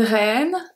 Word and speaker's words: reine: Une reine, un reine. Same pronunciation, different gender.